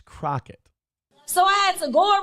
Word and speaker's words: Crockett: see a lot of people mispronouncing her name, putting an I instead of an O. It's Crockett.